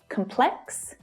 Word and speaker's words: complex: Trong Anh - Mỹ, có sự khác biệt giữa tính từ "complex" và danh từ "complex". Nhưng thách thức phát âm thực sự là ở đây là cụm phụ âm mà chúng được phát âm ở cuối từ. Chữ cái X thường tạo ra một âm mà nó có 2 phụ âm ép lại với nhau, /k/ và /s/ điều mà làm cho